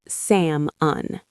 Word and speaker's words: salmon: Salmon means samun. The L is silent.